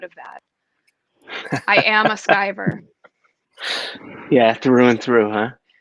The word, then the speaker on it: Skiver: do people normally say sometimes this guy comes out as skiver or skeever but it is skyver which in scotland means